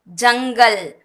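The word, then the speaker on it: जंगल: Fifth, ஜங்கல், ஜங்கல், forest, காடு. ஜா இங் க ல, ஜங்கல். இது காவரிசையில தான் வந்திருக்கு. காவர்க தான், அதனால இங்குன்னு ப்ரொனவுன்ஸ் பண்றோம்.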